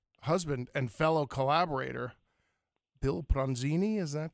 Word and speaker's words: Pronzini: Well, the other thing I find most interesting is that you work with your husband and fellow collaborator, Bill Pronzini. Is that correct, the pronunciation That's of the name?